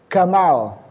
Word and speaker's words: Gamal: seperti kita Jamal tapi kalau orang Mesir bunyinya menjadi Gamal nah bapak-bapak yangang 10uh